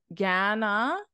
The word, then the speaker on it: Gananoque: The correct pronunciation is Gananoque, This is pronounced quay, quay, quay, quay, a quay at the end, and then Gananoque.